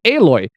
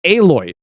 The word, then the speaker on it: Aloy: turns out whenever we're at the game it's pronounced eloy now i said alloy because it's like you know like like the